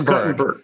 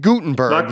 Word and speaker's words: Guttenberg: It's Guttenberg. Not Gutenberg, the actor, but Guttenberg. No, although he gets calls for Steve Gutenberg, the actor, all the time.